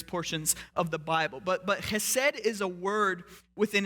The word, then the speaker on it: chesed: She uses the Hebrew word chesed, very stereotypical Hebrew word because you get to use your throat in the pronunciation of it. It's the word chesed.